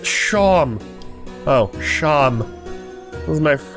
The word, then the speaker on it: Seam: Name's Seam. Pronounced Shom.